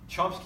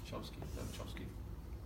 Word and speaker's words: Chomsky: Chomsky himself, in 72, no longer claimed that deep structure was the sole level that determines meaning in 72 written paper as well.